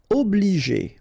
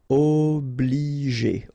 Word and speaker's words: obliger: Obliger. Okay, remember when you get G and after that the vowel E, then you pronounce it J.